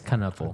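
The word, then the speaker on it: Knueppel: But I swear, Let it it's phonically like Knuppel. Con Knuppel. Pronounce. He went actually pretty high too. I was kind of surprised by that. Oh shit! It is Knuppel.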